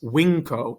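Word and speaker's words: vinco: understand about is that when you have an n before the letters c g or x it makes a sound like an ng in english so think of the word hang in english it's making an sound right so down below in latin we have longus winco and phalanx right the inks sound and phalanx right my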